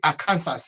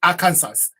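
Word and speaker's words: Arkansas: how it is written it is written like a cancers but we don't say a cancers because people confuse with the state of cancers even an old old law which says you cannot pronounce it is illegal and it is a crime to fail to pronounce the state of arer by saying Aransas you can be taken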